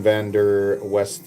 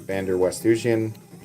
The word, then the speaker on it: Van der Westhuizen: You guys can check out Anton van der West. I always mispronounce his name. Van der Westhuizen.